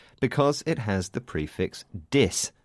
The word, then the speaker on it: dys: This word starts with the prefix dis, but this time it's spelt D-Y-S.